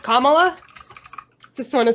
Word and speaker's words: Kamala: I also feel like it's pronounced Kamala.